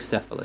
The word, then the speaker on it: Bucephalus: I think it's Bucephalus. I will copy paste that for you because who knows? Maybe I can't say words, but you tell me how that's said. Bucephalus? Yep, Bucephalus.